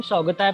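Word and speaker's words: Shortughai: अफगानिस्तान में शौगताई, उसको हम शौगताई प्रोनाउंस करेंगे।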